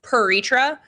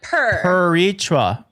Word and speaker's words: Piretra: Okay, so Ellis Island did us dirty, so it's still controversial in the family, but it's the American pronunciation that I use is Piretra, so like Piretra.